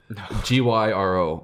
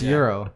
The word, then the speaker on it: gyro: I would have said gyro, if I'm being honest. Gyro. It's Euro. Mm-hmm. But why? I call it a gyro. It's because it's like Greek. It's pronounced that way.